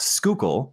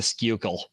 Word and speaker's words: Schuylkill: uh Schuylkill is pronounced Schuylkill but it's spelled s-c-h-u-y-l-k-i-l-l unless you're from South Philly and then it's the skukle the skukle yeah you get that liquid uyl in there um but you know